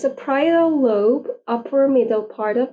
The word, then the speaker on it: parietal: I don't know if I am pronouncing it right. Let's check. Parietal. Yes, parietal lobe.